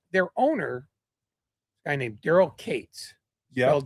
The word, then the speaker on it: Katz: Their owner, guy named Daryl Kates. Yeah. Celled Katz. There is no one else on earth with a surname K A TZ who doesn't pronounce it Katz, but he's Kate's.